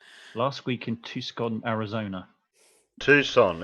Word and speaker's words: Tucson: was very trying last week in Tucson Arizona Tucson it's pronounced um that's how you pronounce it well